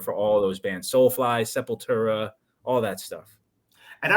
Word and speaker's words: Sepultura: who got me into Sepultura was Brazilian himself. Yeah, of course. So I pronounce it that way. the real way, yeah, Sepultura. Yeah, they're just awesome, dude.